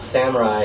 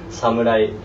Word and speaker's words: samurai: But for anyone who wants to know the real pronunciation of samurai, it's actually not samurai. It's samurai. Samurai.